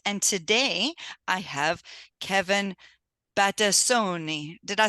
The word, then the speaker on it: Battistoni: Rob from Sint and today I have Kevin batoni did I say that right you you did